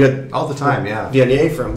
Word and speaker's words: Viognier: Viognier from, I said it right that time.